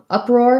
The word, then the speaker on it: uproar: for the word uproar uproar has first syllable stress um and it's just like the words up and roar put together so we have the vowel schwa this u sounds like uh uh roar um and i don't